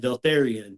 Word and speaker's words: Vaeltharion: correct was my last name of and Altharian. You got both of those correct. I've got a gift for pronunciation.